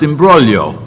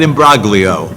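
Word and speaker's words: imbroglio: But then I point out that I am B R O G L I O is pronounced immbrolio, not immigo.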